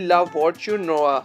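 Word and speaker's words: La Voiture Noire: Number 2 पर है Bugatti ला फॉर्च्यूनरोआ। हाँ, इसका प्रोनाउंसिएशन ऐसे ही होता है।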